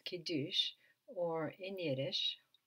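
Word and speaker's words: Kiddush: Sabbath begins with a ceremony which is called kidush or in yides it's pronounced kides typically on a Friday night the family will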